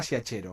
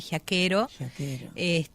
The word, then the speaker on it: Giachero: Es así, giachero. Está deformado, sería originalmente giaquero. Pero bueno, hay que pronunciarlo como suena acá en Uruguay.